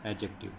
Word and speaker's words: adjective: इसमें D silent है और इसको पढ़ा जाएगा एडजेक्टिव। एडजेक्टिव का हिंदी में मतलब होता है विशेषण।